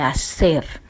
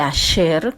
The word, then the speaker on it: Asher: es la tribu de Aser. La tribu de Asher, como se pronuncia en el hebreo, dice el pasuk 31.